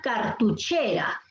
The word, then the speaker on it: cartuchera: Tenemos, por ejemplo, aquí la palabra cartuchera. Cartuchera. La fuerza de voz está en la sílaba. Muy bien. Así es. En la sílaba. ¿Sí? ¿Todos coinciden? ¿Sílaba che? ¿Sí? Sí. Cartuché, grave.